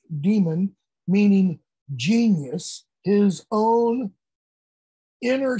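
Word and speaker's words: daemon: use an old greek word demon d-a-e-m-o-n or daimon or as it's commonly pronounced demon meaning genius his own inner spark that directs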